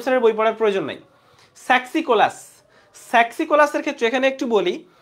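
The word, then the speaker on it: Saxicolous: এই সেক্সিকোলাস বলে কোনো শব্দ নাই, এটা হবে এই যে স্যাক্সিকোলাস। এটা হবে স্যাক্সি, স্যাক্স, নট সেক্স। তাহলে এটা সেক্সিকোলাস না, আসলে হবে স্যাক্সিকোলাস।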